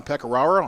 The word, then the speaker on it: Pecoraro: And we've been talking with Collin Pecoraro. I believe I pronounced that right, yep, right?